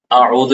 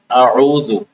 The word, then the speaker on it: اعوذ: عام طور پہ حمزہ کا تلفظ تو صحیح ہوتا ہے جو بھی پڑھتے ہیں عام لوگ. تو اس کے بعد عین کا تلفظ جو کہ عین عربی حروف میں سے ہے اور اس کا تلفظ مشکل ہوتا ہے تو اس میں غلطی ہو جاتی ہے. تو بعض لوگ عین کو واضح نہیں کرتے اعوذ پڑھ لیتے اعوذ.